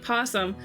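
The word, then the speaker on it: opossum: And how aposum is spelled like that? Cuz it doesn't sound like that. It sounds like pawsum.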